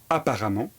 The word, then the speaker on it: apparemment: Pour former l'adverbe, on va remplacer ENT par amant qui s'écrit EMMENT. Apparent va donner apparemment.